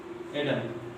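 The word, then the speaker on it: Adam: एडम बोलेंगे, वो कभी भी आदम नहीं बोलेंगे। इसलिए इंग्लिश में आदम को एडम बोला जाता है।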